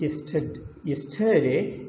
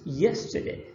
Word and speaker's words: yesterday: So for example, again the word yesterday, it's stressed in the first syllable, in tomorrow in the second. It's not yesterday, it's yesterday, the very first one, but this one